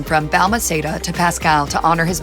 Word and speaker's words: Balmaceda: Shortly after her death, Pascal changed his last name from Balmaceda to Pascal to honor his mother.